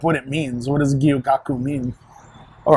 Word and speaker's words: Gyukaku: I've heard people call it Gayukaku, and it's like, it's not that.